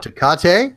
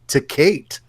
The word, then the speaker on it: Tecate: You can pronounce it Tecate, or you can pronounce it like some of the folks back home, Tecate.